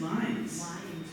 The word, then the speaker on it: Lynds: com no that is and his name is pronounced liines um that is not how he counted Birds